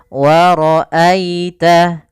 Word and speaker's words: ورأيت: Pada lafal wara'aita di sini ada bacaan lin. Ditandai dengan adanya huruf ya sukun yang didahului dengan huruf fathah, maka lembut dalam pelafalannya. Wara'aita, wara'aita.